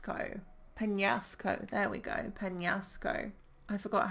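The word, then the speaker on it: Peñasco: pan-pan NASA co-panelist Co Penasco there we go Penasco I forgot how to do the accent on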